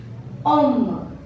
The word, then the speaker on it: homme: Second, Om. Om. Again this E is silent and H also mute letter.